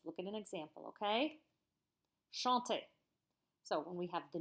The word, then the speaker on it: chante: Remember, I told you the ENT is silent. You don't say it.